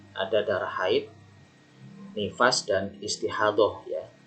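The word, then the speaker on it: istihadah: nifas dan istihadoh ya ini bacanya istihadoh bukan ijtihad lah jadi yang belum bisa transgerasi ya ini DL itu kalau translasi massa dulu itu dot ya untuk huruf dot ya jadi bacanya istihadoh Ya ini haid bukan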